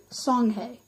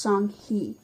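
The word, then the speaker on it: Songhai: already beginning to emerge the people of song song hey it's actually pronounced sung-hee so I'm going to say it like that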